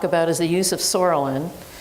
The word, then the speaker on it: psoralen: So one thing we could talk about is the use of psoralen. I know it starts with a P, but the P is silent. And you use Sorolin sometimes.